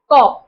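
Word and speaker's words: corps: फिर देखो ये है कॉ और कॉप्स। देखो इसका जो प्रोनाउंसिएशन है ना इसका प्रोनाउंसिएशन भी कॉ है।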